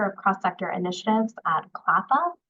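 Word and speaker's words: CLPHA: cross- sector initiatives at clappa that's how we pronounce that acronym the Council of large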